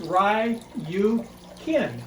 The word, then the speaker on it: ryukin: goldfish they are calico ryukin pronounced rye you kin if you follow the pronunciation i use there's about eight other